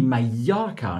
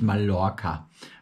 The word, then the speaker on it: Mallorca: LL wird immer I ausgesprochen. Das ist wie Mallorca, nicht Mallorca.